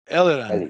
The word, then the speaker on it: Eliran: Did I pronounce his name? Eliran.